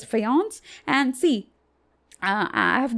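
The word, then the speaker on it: faience: a i n c even though it's written like that it's pronounced as fance and see uh I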